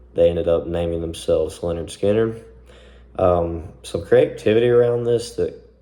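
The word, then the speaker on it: Lynyrd Skynyrd: 1970, they really dropped their first album, which was called Pronounced Leonard Skinner. They even spelt it out.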